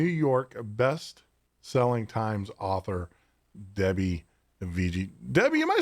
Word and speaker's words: Viguié: It's actually, it's pronounced Viguié. It rhymes with risque.